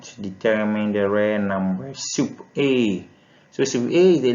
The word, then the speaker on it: sup: is denoted by the soup it's now so we pronounce it as soup soup the same spelling